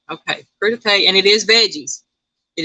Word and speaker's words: crudité: Anita says it's crudité. Okay. Now, I've heard that. Okay. Anita said vegetables with dip, veggies. Okay, so yeah, I told you I can't pronounce these words. I'm not claiming to be nothing I'm not. So it is crudité.